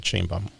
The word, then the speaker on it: Sheinbaum: And you pronounce it Sheinbaum, just like it's written, because it's Mexican.